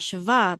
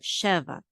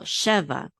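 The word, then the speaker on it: שבע: iron together says Sheva that accent the trip Mark is on not Shiva but Sheva here the accent is on lot or lot right but here it's on the beginning the first syllable Sheva cheva means seven okay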